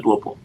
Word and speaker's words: Duopu: yonkon and correct me let me know if I say your name right but welcome welcome to the hanza Mr duopol thank you very much you said it right thank you Alexander you've